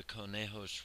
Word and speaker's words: Conejos: From its headwaters, the Conejos River runs 90 miles down the canyon to join the Rio Grande in the San Luis Valley.